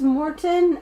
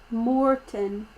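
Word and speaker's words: Mårten: song let's go okay it's pronounced morton m-o-r-t-o-n but it's spelled m a with a circle on it which is a swedish letter that's morten but you think about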